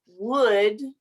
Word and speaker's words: would: And sí tiene L, pero no tiene sonido la L. Okay, so we know the word good, right? Bien, bueno. The words would and could rhyme with good.